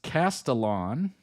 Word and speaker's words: Castellan: Pronounced Castellan, is the secondary antagonist of the Disney Plus series Percy Jackson and the Olympians, son of Hermes.